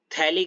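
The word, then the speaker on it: phthalic: इसको हम बोलते हैं थैलिक एसिड। क्या बोलते हैं? थैलिक acid. थैलिक with the piece P with the silent समझ रहे हो? हां जी। हां। थैलिक with P silent.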